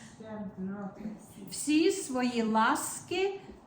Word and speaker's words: щедроти: Всі свої ласки і щедроти. But the E, you can almost swallow it. And even if you don't say it, because musically, the way it comes out, you almost don't even hear it.